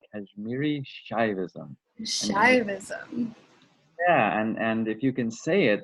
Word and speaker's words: Kashmiri Shaivism: integration of kashmir is that it how you pronounce it it's very important it's it's kashmiri shaivism shaivism yeah and and if you can say